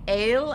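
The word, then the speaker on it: אל: Now we have 2 dots under the aleph, so it's going to say A, and the lamed, which is going to say ol, so we're going to say el, and that's the word for God.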